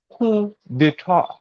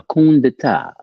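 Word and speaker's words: coup d'état: Coup d'etat. A kundata.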